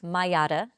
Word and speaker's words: Maiara: So it's pronounced Miata like the car the Miata.